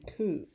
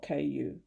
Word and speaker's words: ku: state of neither existence nor non-existent is called ku pronounce and it's spelled k u ku the rain cycle is a good illustration